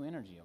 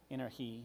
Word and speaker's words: Energí: Let's move on to the new Energí, okay? Now, there will be no dollars because it's pronounced the same, Steve, okay? So you're... Yeah, Energized. Energí, but...